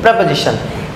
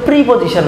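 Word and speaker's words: preposition: প্রেপোজিশন, এটা আরও সহজ জিনিস। একটু খেয়াল করো যে প্রি এখানে লিখা আছে আর তারপরে লিখা আছে পজিশন, কিন্তু এটার উচ্চারণ কিন্তু প্রিপজিশন নয়।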